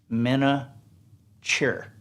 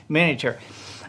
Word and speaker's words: miniature: word is miniature now in the south a lot of people say miniature mena cheer but it's miniature uh here's a big